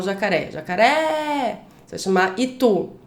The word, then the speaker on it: jacaré: Você vai chamar o jacaré. Jacaré. Você vai chamar itu. Itu. Então são essas sílabas, as últimas sílabas, né? A última sílaba mais forte nessas duas palavras.